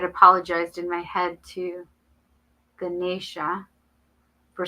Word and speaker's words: Ganesha: Oh no, it says Guh. Ganesha.